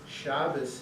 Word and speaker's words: Shabbos: And somehow that combination, Shabbos, is much easier for me because it starts hard and it ends soft.